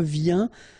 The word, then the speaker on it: viens: Je viens. Final S not pronounced, okay? And when you combine this IEN, you get this yin, yin.